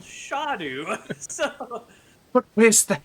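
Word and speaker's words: Scadu: So okay, so because I used to say Skadu as well, I found out that the pronunciation is Shadu because it's the Old English word for shadow.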